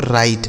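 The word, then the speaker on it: write: डब्ल्यू आर आई टी ई इसे पढ़ा जाता है दोस्तों राइट। देखिए डब्ल्यू यहां पे साइलेंट है।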